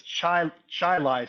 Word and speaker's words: Chili: Well, I know I know enough about Rochester to know that it's Chai Chili Street, not Chile Street.